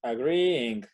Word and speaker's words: agreeing: Se pronuncia agree y luego viene un ing. No hay problema. La pronunciación es agreeing. Se alarga un poco ese sonido de la i. Aparte, la segunda i no es tan i marcada.